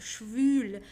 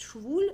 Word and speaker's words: schwül: Make sure you pronounce it with the U, okay? Schwül means humid. Schwul with the normal U means gay, okay? So es ist schwül with an U, okay? Not saying es ist schwul, it's schwül, okay?